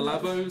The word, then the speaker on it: Labo: Yes, the Oh, Lobo. Is it Lobo? Labo, Labo.